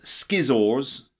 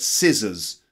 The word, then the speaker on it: scissors: here we go scissors now scissors not schizoar x' but scissors so can you repeat it